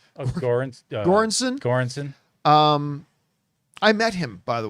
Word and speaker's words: Göransson: Göransson.